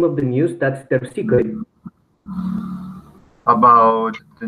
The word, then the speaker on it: Terpsichore: Okay, and just a small pronunciation thing about the name of the news. That's terpsichore.